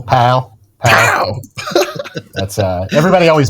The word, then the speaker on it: Powell: Pow. You gotta say it like that. You have to say it like a local Pow.